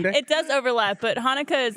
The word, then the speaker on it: Hanukkah: It's pronounced Hanukkah.